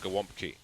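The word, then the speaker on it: gołąbki: Like in terms of Polish food, there is something which is spelled galabki, but you pronounce it gałąbki.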